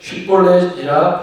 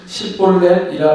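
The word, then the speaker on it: 쉽볼렛: 사람이냐 하여 그가 만일 아니라 하면 그에게 이르되 쉿볼렛이라 발음하라 하여 에브라임 사람이 그렇게 바로 말하지 못하고 십볼렛이라 발음하면 길르앗 사람이 곧 그를 잡아서 요단강 나루턱에서 죽였더라.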